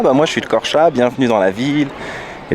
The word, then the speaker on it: Korça: Et le E avec 2 points ça se prononce A. Donc ça fait Korça. Devant une belle cathédrale orthodoxe.